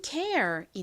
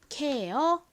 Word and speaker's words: care: 쓰였어요는 무슨 소리 난다고요 Air 소리 나죠 연결하면 care이 됩니다이 단어 한국식으로는 보통 어떻게 읽을까요 아에 리을 받침 빼고 케어 이렇게 습니다 여러분 생활속에서이 단어 많이